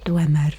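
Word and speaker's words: Dwemer: It was him who found me dying outside that Dwmer ruin left. Yes, that is how you pronounce it.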